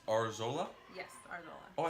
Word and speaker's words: Arzola: Yes, Arzola.